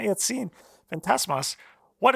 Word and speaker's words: Fantasmas: Fantasmas. It's not like the drink. Yeah, sure. No, not like the drink. Fantasmas. Yes, Is that you right? did it. Yeah. Yeah. Someone say it right. Fantasmas.